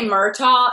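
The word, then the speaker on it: Murtagh: guys here's the deal the reason we say myto is because that's sort of how Americans would pronounce it even though a name is pronounced a different way we're still speaking English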